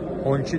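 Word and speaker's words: Hongqi: İçinde bakın bu Honchi diye okunuyor.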